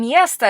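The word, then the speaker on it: место: when it's stressed so the stress in mesta is on the first syllable therefore the O turns into sort of an a sound the stress is on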